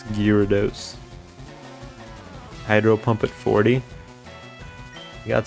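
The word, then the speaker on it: Gyarados: I used to say like gyro. I think that's how you used to pronounce it. It's Gyados.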